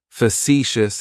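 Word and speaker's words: facetious: me as factious fous has three syllables and the stress is on that second syllable it's like you're just saying the letter c for C that first syllable has that schah that uh sound fous fous factious means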